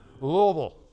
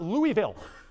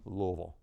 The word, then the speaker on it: Louisville: All right, so Louisville. It is not Louisville, right? I grew up in the North. I overpronounce everything most of the time. Louisville is not the correct way to do it.